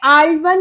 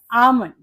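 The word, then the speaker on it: almond: miss चवस यह होता है डेवलप एंड दिस इज मिसवर्स मिसवर्स अब नेक्स्ट है हमारा आलमंड नहीं ये आलमन नहीं होता ये होता है आलमंड इसमें एल साइलेंट होता है आलमंड मी्स बादाम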